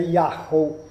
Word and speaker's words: Yahu: Però in realtà è stato scritto anche dagli accadici, da tutti i popoli semitici, si deve leggere Yahu.